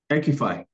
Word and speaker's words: EQIFI: EQIFI.